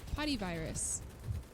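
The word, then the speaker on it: potyvirus: Potty virus. That's what it was called. It's such a stupid sounding virus. It's literally POTY, virus. So it sounds like potty virus.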